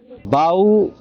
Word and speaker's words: bow: হ্যাঁ, কিন্তু বাউ দিয়ে কিভাবে মনে রাখবো? বাউ যদি ইংলিশে উচ্চারণ করতে চান ভুলবশত কিন্তু আমরা বউ বলে ফেলবো।